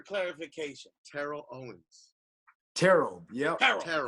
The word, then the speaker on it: Terrell: Terrell. It's one syllable. Terrell.